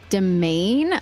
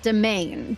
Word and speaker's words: demesne: Apparently, Demesne is pronounced domain. Oh, wonderful. I've been saying it like an idiot. All right. Domain.